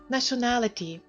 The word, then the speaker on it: nationality: Nationality. Національність. Прошу звернути увагу на те, що це слово має два наголоси слабкий та сильний. Власне, перша буква A у першому складі слабо наголошена. Натомість друга буква A сильніше.